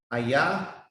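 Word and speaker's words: אהיה: It pronounced Ayah, Asha, Ayah.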